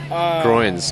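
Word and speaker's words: groyne: I did right now they called groins groins no jokes same as like this you're growing but it's spelled ger oh why any I believe what they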